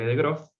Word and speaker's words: de Groot: matemático adrián de gross se escribe de groot pero se le de gross que hizo algo muy